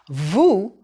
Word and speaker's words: vous: want to show respect it's pronounced with the o sound o as in Goose Vu is also u